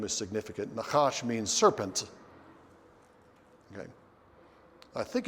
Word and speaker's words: Nahash: from the attack of nahash king of the ammonites and i kept pronouncing the name nahash as nakash that's the hebrew word and in your notes